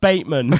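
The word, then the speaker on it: Bateman: surname before he became the superhero it's actually pronounced baitman it's Patrick Bayman and it's also a it's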